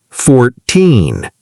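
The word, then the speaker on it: fourteen: So remember, teen numbers, the stress is at the end. 13, 14. And the 10 numbers, 30, 40, 50, the stress is at the beginning.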